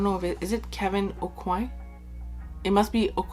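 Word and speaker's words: Aucoin: if is it kevin o'coin it must be i'm going to say it how everyone says that kevin o'quan kevin kwan it sounds a lot better than okuy like in french it's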